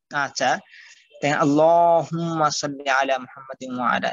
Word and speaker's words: محمد: আচ্ছা আল্লাহুম্মা সাল্লি আলা মুহাম্মাদি ওয়া আলা এই যে মুহাম্মাদ এই হাটাকে একটু চাপ দিতে হবে এরপরে আলা ইব্রাহিমা ইব্রাহিমা